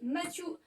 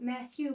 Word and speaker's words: Matthew: Encore une fois, un acteur qu'en français, on a souvent tendance à appeler Matthew McConaughey. Donc déjà, Matthew se prononce Matthew.